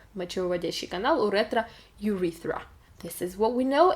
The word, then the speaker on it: urethra: Okay, both words we pronounce with U in front, ureta and urethra. The stress is in both cases on the second syllable, ureta again and urethra.